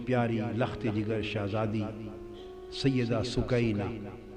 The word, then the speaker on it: سکینہ: جگر شہزادی سیدہ سکینہ، اصل نام ان کا عربی وزن میں سکینہ ہے، عرف عام میں سکینہ چلتا ہے، اصل لفظ سکینہ. سیدہ میں عرف عام کا لفظ استعمال کروں گا، تلفظ بتا دیں، سکینہ، سیدہ سکینہ، سیدہ سکینہ.